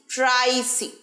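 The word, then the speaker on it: pricey: expensive expensive expensive অথবা প্রাইসি প্রাইসি প্রাই বড় সি টা ছোট প্রাইসি প্রাইসি ঠিক আছে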